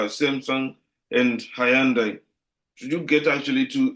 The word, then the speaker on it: Hyundai: If only How my actually do English, you pronounce Hyundai, it's Hyundai. Hyundai?